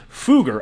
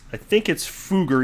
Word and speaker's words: Fugger: Ripple was first idealized in 2004 by Ryan Fugger. I think that's how it's pronounced. I've heard it pronounced Fugger and Fugger. I think it's Fugger, even though that's not what it looks like.